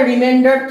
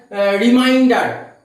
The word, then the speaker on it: remainder: So students, let us see what is the remainder theorem. This is the remainder. Some students pronounce it as reminder, not like that. Remainder theorem.